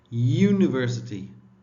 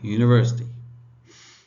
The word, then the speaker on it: university: But some letters are written with a vowel but said with a consonant, like university, the sound of Y, right? Sound of Y, university.